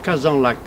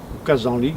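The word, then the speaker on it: Kazanlak: la même latitude que kazan lac kazan ligue certains prononce l'un ou l'autre me gary qui est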